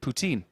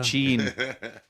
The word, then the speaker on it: poutine: It becomes routine. Which rhymes with the Canadian for cheesy chips. 40. Poutine.